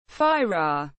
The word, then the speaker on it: Fyra: fire pronounced firea was an international High-Speed Rail service between the